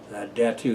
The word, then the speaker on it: Datu: Datu is spelled D-A-T-U, just like it sounds.